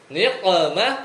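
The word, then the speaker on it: نقمة: Tapi kalau ainnya antum ganti qof, bacanya apa? Nikmah. Artinya apa? Sengsara. Nikmah. Nikmat. Niqmah pakai qalqalah jadi apa?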